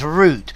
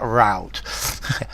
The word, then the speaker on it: route: craving is a desire you say it the British way it's root how can anybody pronounce that rout it's a roote um also to me